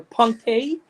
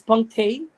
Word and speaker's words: punctae: and lower puncta or punctae. By the way, you pronounce A as punctae, but you can, we can also say puncta. So it depends on how you want to say it, Randall, right?